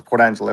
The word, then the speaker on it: Port Angeles: Watching Angeles Angeles Port Angeles like Los Angeles Port Angeles Washington on the left coast where I watch the fireworks from my living room.